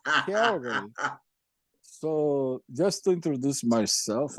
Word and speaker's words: Calgary: They dare say Calgary. Horrible. What Calgary. Horrible pronunciation. Yeah, Calgary.